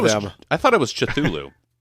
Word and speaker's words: Cthulhu: I thought it was Cthulhu. The great thing about pronouncing Cthulhu's name is there's no wrong way to do it because human vocal cords can't produce it accurately.